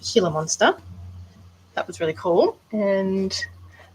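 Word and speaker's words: Gila monster: So, I recently have done a veiled chameleon and then I did a um I've been told it's pronounced healer monster.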